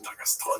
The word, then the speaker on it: Dagestan: I didn't say I was going to Dagestan. I assumed you were. Yeah, it's pronounced Dagestan.